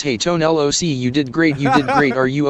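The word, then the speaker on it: Tone Lōc: He hate me his grit and says, hey, Tone LOC, you did great, are you okay? We've been saying it wrong, he hate me. It's Tone LOC. Now I get it. Kind of like TLC. So look, he has a dirty work quote, that Dr.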